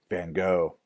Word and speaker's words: van Gogh: Dutch painter named Vincent van Gogh, or as we Americans tend to pronounce his name, Vincent van Gogh.